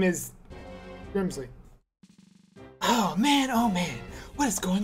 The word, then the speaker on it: Grimsley: Grimsley.